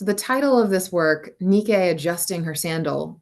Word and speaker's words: Nike: Nikkei adjusting her sandal I know we're more used to saying that in the American pronunciation Nike because they adopted the name of this Greek goddess of victory for a line of athletic shoes but Nikkei is a victory figure and she's winged so